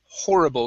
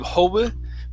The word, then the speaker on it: horrible: right let's go to horrible give me a good r here instead of hobo hoary horrible horrible there you go very